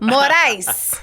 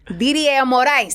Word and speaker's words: Morais: So, you almost had the last name pronunciation right. I said it. I was like, But it's all good. It's all good. Morice Morice.